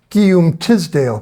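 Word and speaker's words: Teasdale: of Windsor and and Karen knows how to pronounce his name say it um Tisdale Professor Guillaume Tisdale Elizabeth she's my French cheese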